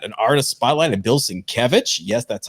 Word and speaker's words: Sienkiewicz: We've got an artist spotlight of Bill Sienkiewicz.